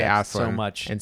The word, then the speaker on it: Aslan: I pronounce it Aslan myself.